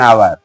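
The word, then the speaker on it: hour: एन का प्रयोग करेंगे अगर शब्द का पहला अक्षर एच हो ध्यान दीजिएगा और उसका उच्चारण साइलेंट हो ध्यान दीजिएगा अगर शब्द आपका शुरू शुरू हो रहा है एच से और लेकिन एच का उच्चारण माने दबा हुआ है साइलेंट है तो वहां पर एन लगेगा जैसे एन आवर आवर नहीं कहते हैं आवर कहते हैं एन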